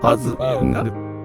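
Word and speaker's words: アズフーンガヌ: アズフーンガヌと読みます。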